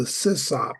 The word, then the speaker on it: sysop: And the proper pronunciation of that, of the person who runs it, is the sysop, not the sysop.